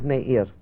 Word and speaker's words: Meir: The right way of pronouncing my name is Meir. Meir. That is a Hebrew name.